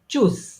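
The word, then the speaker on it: tschüss: আছে সো এগুলাকে কিভাবে বলে যেমন এটা হচ্ছে চুজ এটাকে কি বলে তারা চুজ এখানে কিন্তু দেখেন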